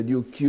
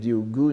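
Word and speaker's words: 竜宮: Vous voyez, Shinryugu no Yukyo, entre parenthèses, Ryugu, le palais, enfin on peut prononcer Ryukyu ou Ryugu, ici c'est Ryugu, n'est-ce pas, le palais des dragons, la lecture bouddhique.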